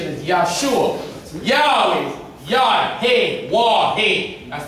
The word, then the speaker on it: Yahweh: The pronunciation is Yahshua. Yahweh.